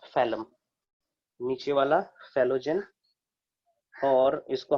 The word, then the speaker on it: phellem: और बाहर वाला जो सेल आएगा, इधर की ओर जो सेल्स डिपॉजिट होगा, they are called फेलोजेन, फेलम, sorry, फेलम, PHELLEM, that is pronounced as phellum, नीचे वाला फेलोजेन, और इसको हम लोग कहते हैं फेलोडर्म या फिर सेकेंडरी कॉर्टेक्स, ठीक है।